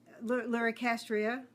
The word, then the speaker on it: Luricastria: Luricastria is pronounced the way it's written.